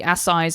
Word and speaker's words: Assize: an event called the Assize of Ale. And Assize is spelled A-S-S, don't get too excited, I-Z-E. Sort of like, think about it like arse size of ale.